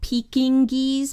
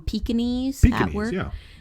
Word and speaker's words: Pekingese: look up um well it's spelled Peking geese but we call them Pekingese um wow that is